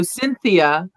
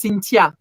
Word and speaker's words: Cynthia: pronounce correctly um because they don't say the th you know in france in french the th doesn't exist and so cynthia is not cynthia in french it's cintia with a t and